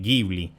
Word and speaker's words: Ghibli: es estudio ghibli y se dice jibli busquen hayao miyazaki que es el señor que se inventó ese estudio dice jibli gibbli pero viene del italiano y en italiano se dice gibbli entonces Kate y yo